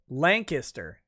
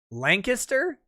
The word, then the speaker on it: Lancaster: omega bob says fyi in southeastern pennsylvania uh lancaster is pronounced lancaster lancaster we all cringe when we hear it the other way uh sorry